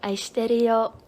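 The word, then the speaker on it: 愛してるよ: The way that like a lot of people say it, but it's like you don't say that. It's like aishiteru yo, but like if somebody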